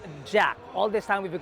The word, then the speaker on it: JAC: interesting truth be told this brand is actually pronounced Jack all this time we've been calling it jaac but it's actually called Jack not to be confused